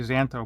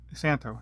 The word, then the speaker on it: Szanto: I always want to say Szanto, but it's Szanto. The Z is silent.